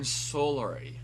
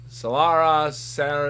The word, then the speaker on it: Solari: Locket of the Iron Solari. Solara Salary. You pronounced it wrong.